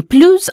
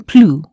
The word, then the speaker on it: plus: Je n'ai plus un sou. U or U? That was right. There's a U in plus, so the sound is U.